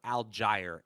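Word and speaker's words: Allgeier: of outcomes are for tyler algiere a-l-l-g-e-i-e-r is how we say it okay we're gonna get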